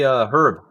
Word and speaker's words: Hryb: Larry Herb or Hryb. How do you pronounce his last name? Because Larry Hryb. So you say it, Larry Larry Hryb. Hryb. So I was right.